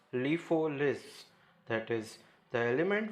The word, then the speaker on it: LIFO: are sometimes called as last in first out pronounced as lifo lists that is the